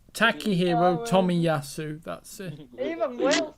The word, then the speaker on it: Takehiro Tomiyasu: Oh, well, Oh, it's not that bad actually to pronounce that. It For sounded like Timusui, so it's not. Takehiro Tomiyasu.